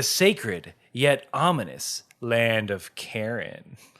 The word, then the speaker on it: Karin: The sacred yet ominous land of Karin. Karen? Okay. Do you tell me how to say it? Because it's Karin. That's Karen. That's a Karen.